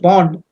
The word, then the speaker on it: pwned: It is pronounced pond, but it is PWNED.